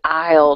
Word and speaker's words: aisle: all right one last question how do I pronounce this word the one I'm putting say that again please Isle yes very good Isle now what what is an Isle just to